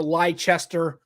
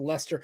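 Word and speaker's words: Leicester: situ and Portsmouth like they always say Portsmouth or leester right instead of Lester right they it's it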